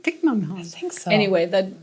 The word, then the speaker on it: Thich Nhat Hanh: Thich Nhat Hanh. Thich Nhat Hanh. Is that right? Thich Nhat Hanh.